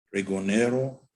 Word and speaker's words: pregonero: El sinónimo pregonero de origen español comprende 4 sílabas y es de acentuación grave, quiere decir sobre la penúltima sílaba.